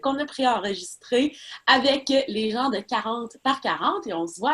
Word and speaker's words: 40 x 40: Est-ce que c'est comme ça qu'on le prononce? 40 par 40.